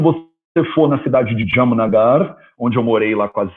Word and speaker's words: Jamnagar: vai ver que a palavra Jamnagar não é R Holland no final. A cidade chama Jamnagara. Jamnagara. Mas como você fala Jamnagara na prática? Jamnagar. Jamnagar.